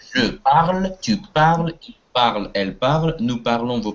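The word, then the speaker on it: parlent: Будет je parle, tu parles, il parle, elle parle, nous parlons, vous parlez, il parle, ent не читается, elle parle, ent не читается. Если это касается глагола, формы глагола третьего да, множественного числа.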